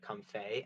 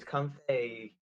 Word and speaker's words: Comfey: Oh, it's spelled comfy, but I think people pronounce it comfey, and people are saying it's a lot like shoot, that one character from League, Yumi.